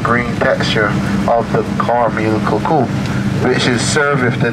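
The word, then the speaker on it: coucou: So the cuckoo is spelled C-O-U-C-O-U, cuckoo.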